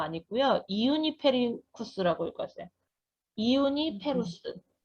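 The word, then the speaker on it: Juniperus: 그래서 이제 주니페리우스라고 아니고요, 이우니페리쿠스라고 읽었어요. 이우니페루스, 이우니페루스.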